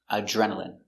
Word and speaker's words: adrenaline: adrenaline when she jumped out of the plane adrenaline adrenaline uh J remember Dr together make the